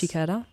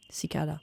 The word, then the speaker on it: cicada: this little you know I've called it shicada. How do you say that? Cicada.